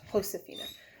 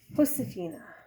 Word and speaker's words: Josefina: Remember that in Spanish, J is pronounced like H, which means Josephina's name is pronounced Josefina. I shall have to remember that because I have a daughter named Josephina. Josefina.